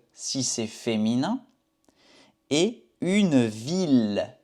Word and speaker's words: ville: c'est féminin, et une ville. Ville, on prononce le L, ville, ville.